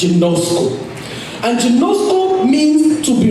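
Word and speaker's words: γινώσκω: It's a Greek word that is pronounced ginosko.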